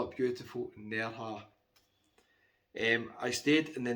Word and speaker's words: Nerja: moved on to beautiful Neha quite a few people have told me you need to pronounce it near car not sure how you can announce it I'll just call up beautiful near her and I stayed in